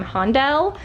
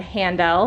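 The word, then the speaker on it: Handel: we will be doing I think I pronounced it wrong last time hon del I said handle like the like the the illinois-chicago girl that I am but we've got hondo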